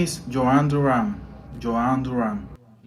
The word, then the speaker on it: Jhoan Duran: My name is Joan Duran.